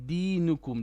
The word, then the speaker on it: دينكم: So lakum dinukum, don't stretch the d. Lakum dinukum waliyadin. No, still too long. Lakum dinukum waliyadin.